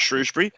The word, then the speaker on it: Shrewsbury: mush routes for your show story so it's Shrewsbury and Phil it's been writing for us for